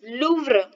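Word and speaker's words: Louvre: इन द, ये जो museum है दैट इज लूव्र। क्या है? लूव्र। इसका प्रोनाउंसिएशन देखिए, the earliest inscription in द लूव्र museum, जो फ्रांस के लूव्र संग्रहालय का सबसे अति प्राचीन शिलालेख।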